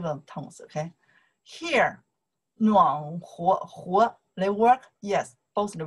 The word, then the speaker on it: 和: We pronounce the second tone. You say, 和王鹏和 Leo, 我和我妈妈, 哒哒哒, 和, 和 is and, right?